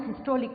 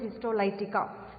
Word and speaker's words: histolytica: Some pronounce it as Histolica also, but it is Histolytica.